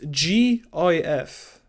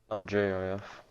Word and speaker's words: gif: reason why it's pronounced gif right because the the g stands for graphic okay not traffic okay